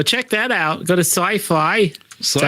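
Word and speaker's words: Syfy: Go to Sci-Fi. Is that how you Sci-Fi?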